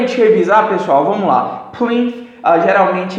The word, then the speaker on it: plinth: Então, realmente você vai um pouco morder sua língua, a pontinha, porque a gente fala plinth, beleza?